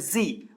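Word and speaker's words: ξ: Okay, इसको बोलते हैं जी। वैसे इसका सही प्रोनाउंसिएशन जी है, लेकिन हिंदी में कहीं पर इसको जाई भी बोल देते हैं, जाई भी चलेगा, एक्स आई जाई।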